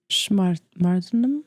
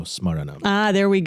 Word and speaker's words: smaranam: Because it consists of Shravanam, Kirtanam, and how do you pronounce the last part? Vishnu? Smartanam? Where are you? Shravanam, Kirtanam, Vishnu. Smartanam. It doesn't say No, I don't think that's what Smaranam.